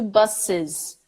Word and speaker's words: buses: 2 buses buses buses and don't be scared to say that extra I at the end because that's how you do it so it's an I in actually a Z it's not an S I'm not gonna say